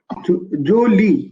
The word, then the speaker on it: jolie: Jolie. You pronounce it Jolie. Jolie, like holy, jolie.